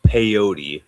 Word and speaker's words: peyote: Oh, First off, you got the name wrong. It's peyote.